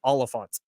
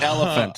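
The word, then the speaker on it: Olyphant: Oh, his name is spelled with an O. Oliphant. Oh, not elephant.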